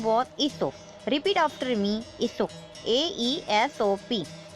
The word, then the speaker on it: Aesop: Aesop was a person from Greek country. He was a good storyteller. His name was Aesop.